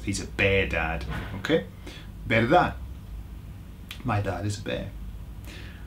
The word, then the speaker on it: verdad: The Spanish don't pronounce the last D. Either they'll say verdad with a verdad, or they'll say nothing, like they'll leave it hanging, like verdad.